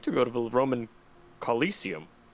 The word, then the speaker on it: Colosseum: go to the roman coliseum colosseum is how that's supposed to be pronounced but that's not like coliseum coliseum police oh hold